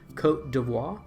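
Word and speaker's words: Côte d'Ivoire: is Ivory Coast but I think the correct pronunciation is Cote d'Ivoire um so yeah other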